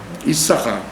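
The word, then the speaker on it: יששכר: Et on écrit avec deux signes, mais on n'en prononce qu'un. Issachar.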